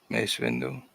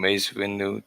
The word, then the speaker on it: Mace Windu: Mace Windu. Because it's not, and it's not Masonic. It is Masonic. It sounds like mace because it is the same word.